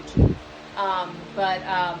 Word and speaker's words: Qi: So the Chinese call it energy qi, and it's spelled Qi.